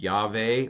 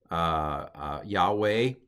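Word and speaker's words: יהוה: This is the name of God, which is pronounced Yahweh or Yahweh in the older pronunciation.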